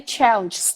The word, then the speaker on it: challenges: example we have many challenges to face we have many challenges to face so the G and the s become like one sound that's wrong you're not supposed to do that you're supposed to say